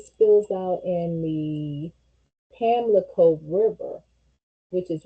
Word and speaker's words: Pamlico: out into Pamlico River, or also known as Pampico River, because that's how it was pronounced and all of that back in the 1500s. But today's, the way they spell it and pronounce it, they say Pamlico instead of Pampico, like with a P, Pampico.